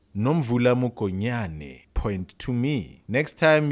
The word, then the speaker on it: Nomvula Mokonyane: Nomvuka Mokonyane, who's the Deputy Secretary General of the ANC, has in the past emphasized, Hey, it's Nomvula Mokonyane, you idiot.